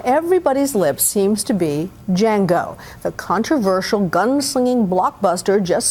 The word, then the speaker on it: Django: What's your name? Django. D is silent.